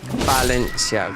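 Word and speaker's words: Valencia: Is that how you pronounce it in Spanish? Balencia. Cuz V is a B.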